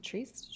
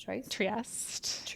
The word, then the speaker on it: Trieste: Trieste? Trieste. Yeah, it's Italian.